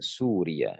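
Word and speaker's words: سوريّة: di sini perhatikan berarti kebanyakan kesalahannya itu adalah pada pengucapan Suriah ada ya di sini ya musyaddadah ya yang bertasdid begitu juga dengan Suria di sini yanya tidak bertasdid Suria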